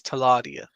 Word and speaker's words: Teladia: Okay, so the pronunciation for my name is Taladia.